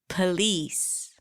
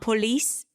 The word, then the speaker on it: police: Police. Are you starting to hear all those schwas? It's not police. Police.